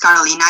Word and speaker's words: Carolina: have a comment um i am a latina and my name is pronounced carolina you said it well becky um so i